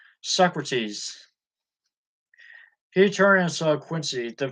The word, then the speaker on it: Socrates: quote by Slick rats he attributed the statement to silkrats as a rhyme with no rates so Socrates that's the way I always assumed it was pronounced Michael's Solaire I heard